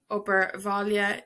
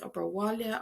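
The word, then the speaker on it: obair bhaile: brick Foster brick Foster is breakfast or birvalia Ober Valia is homework it can be pronounced overwhalia either at the W laba is bed lava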